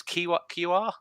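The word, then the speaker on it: Kiwior: So, but no, Jakub, I think he's QR is how it's pronounced.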